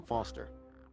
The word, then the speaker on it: Foster: pickle it does I'm Foster I'll remember that easy because your name rhymes with fossil and you're old thanks